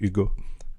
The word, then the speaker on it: Hugo: you said yod first one no no I pronounce it correctly Ugo um and the the the the thing is